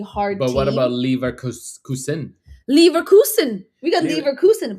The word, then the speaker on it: Leverkusen: It's called Leverkusen.